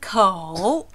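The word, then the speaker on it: 口: a bottle you know we pronounce it co again you see here down and up the tone should go down the coal and up again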